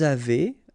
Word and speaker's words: avez: two, nous avons, vous avez, a Z at the end will produce this E sound, avez, little link between